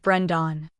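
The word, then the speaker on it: Breandan: Claude pronounced it Brendan.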